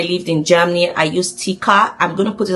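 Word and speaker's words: TK: in Germany I used Tika. I'm going to put it on the screen. It's just T and K but it's pronounced Tika.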